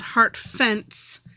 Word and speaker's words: Hartfents: I was thinking this is it's called heart fence.